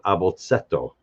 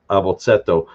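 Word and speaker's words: abotset'o: first 4 letters, abashada, is what's called an abotsetto. A-B-O-T-S-E-T apostrophe O, abotsetto. That being on like a little abotso, the et infix indicates like a diminutive or a smaller version of something. So an abotsetto, a little alphabet.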